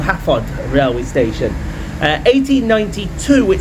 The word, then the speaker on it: Hafod: It was called Hafod Railway Station.